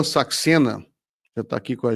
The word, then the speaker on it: Saxena: Mas indiano Saxena seria é Saxena ou Chacena? Como pronuncia o... Saxena. Saxena.